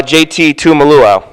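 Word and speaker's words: JT Tuimoloau: don't want to butcher his name oh uh jt tumalua jt wow a luau the way that we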